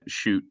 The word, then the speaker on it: Schutt: And of course, shoot is spelled SCHUTT.